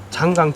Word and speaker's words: 장강: 그렇게 해서 이제 생산된 모델이 장강 750이라는 모델이고, 그게 이제 장강 모터스의 시작이 되죠. 우리나라는 그 한자어 발음이 이제 장강으로 읽는 게 맞을 것 같고, 외국에서는 창장이라고 합니다.